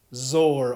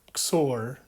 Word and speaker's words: XOR: or and exclusive disjunction which is zor or xor depending how you want to pronounce it in this video we're